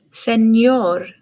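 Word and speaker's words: señor: the letter n enchiladas makes the same sound as when we say kanyen so this is a word senor and i would be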